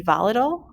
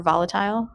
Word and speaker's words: volatile: that evaporate easily are said to be volatile or volatile um can be pronounced either way so for example gasoline